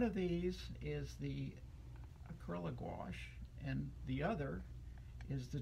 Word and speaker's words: gouache: my discoveries and the gouache not gauche gouache not spelled g-w-a-s-h and not squash but it's rhymes with squash but it's actually spelled